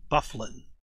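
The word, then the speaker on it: Byfuglien: And from what I understand from somebody else I've heard this from, it's actually Babe Bufflin. I don't know why it's spelled that way, but yeah, Babe Bufflin is the name of that Good to know.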